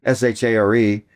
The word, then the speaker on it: Shār: So with that accent over the A, you know, it's a it's a long a.